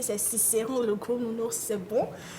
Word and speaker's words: Cicéron: J'ai bien prononcé, c'est Cicéron, le gros nounours, c'est bon.